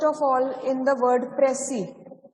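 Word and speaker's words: précis: So talking about Pressy writing, first of all, in the word Pressy, S is silent, right? We do not pronounce it. So it's supposed to be Pressy writing.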